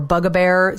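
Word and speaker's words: bugbear: bug bear another entomology a bug bear or a bug a bear sometimes it's pronounced is anything that causes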